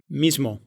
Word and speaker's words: mismo: А вот в испанском языке сонорный согласный тоже будет озвончать предыдущий звук, как в слове mismo, Есть еще один трюк для повышения сонорности.